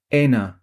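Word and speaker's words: Ένα: Éna.” (pronounced TREE ah, THEE oh, EH nah) Then, through the monitor, we heard a tiny explosion—immediately followed by a much larger one.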